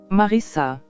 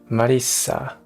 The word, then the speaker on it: Marissa: Marissa. Marissa. Marissa. Marissa. Marissa. It's almost like a Japanese R.